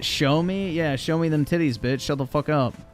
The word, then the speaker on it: Xiaomi: I've seen Android wise actually it's pronounced show me yeah show me them